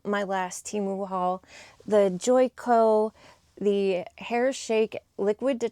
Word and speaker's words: Joico: And thank you to whoever left the comment of how to pronounce this correctly. It is Joico.